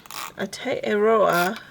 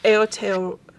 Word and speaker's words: Aotearoa: And so we had an interesting time learning how to say Aotearoa and remembering that's how, or remembering how to say it. And see, I said it wrong. Aotearoa. I think that's better.